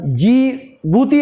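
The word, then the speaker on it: Djibouti: জিবুতি, ওটা জিবুতি আমরা বলি, ভাষাতে বলবো জিবুতি, কিন্তু আসলে ওটা লেখা হয় কি? ডিবুতি, DJI। যে উচ্চারণটা কি ওরকম তো বলে জিবুতি।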